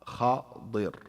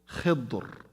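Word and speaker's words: خضر: So you can do this way or that way. So khadir, khidr, khadr, three ways.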